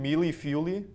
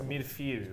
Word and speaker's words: mille-feuille: So we're gonna start with a mushroom mealy fuely. You want to try that again? Wait, Joey knows how to pronounce it. It's mille-feuille, right? Ooh. I think it's French.